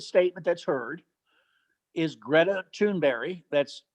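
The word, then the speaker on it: Thunberg: that's heard is Greta tunberry that's tunberry that's that's how they pronounce it in Sweden but it's spelled tunberg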